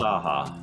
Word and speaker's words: Nunne-Chaha: Nunne-Chaha.